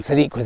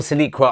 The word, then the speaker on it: siliqua: It's a siliqua, so silica or siliqua, I think it's siliqua, plural siliquae.